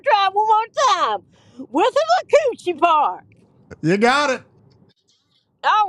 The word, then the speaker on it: Withlacoochee: Withlacoochee Park.